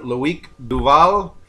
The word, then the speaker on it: Loic Duval: Yeah, All right, we're here with Loic Duval. He drives for the Team Oreca Matmut. Am I pronouncing that right?